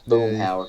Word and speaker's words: Boomhauer: But there's, I know Robert has, but there's this character, what is it, Boomhauer? Is that how you say it? Yeah, Boomhauer.